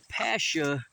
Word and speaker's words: Pascha: So Ishtar, the 3rd and 4th century, the festival was known as Pascha, I believe it's pronounced, or Passover.